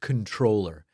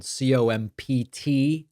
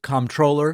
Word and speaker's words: comptroller: By the way, please don't email me and say, David, it's pronounced controller. Both pronunciations are acceptable. This is, of course, spelled Comptroller. You can say controller, or you can say comptroller. What wouldn't be okay is comptroller. That apparently is not okay.